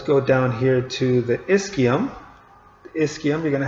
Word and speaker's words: ischium: and the ischium okay the ch sounds like a k so make sure you say ischium so ilium ischium pubis